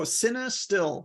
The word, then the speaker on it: Cinestill: Oh, Cinestill, like cinema film, like Cinestill.